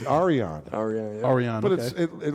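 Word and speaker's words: Yrion: Happ it's to it's Arian AR Aran but it it literally is spelled y r i o n and we y apostrophe say Arian okay and then how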